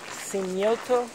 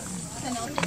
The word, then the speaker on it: cenote: It's a cenote.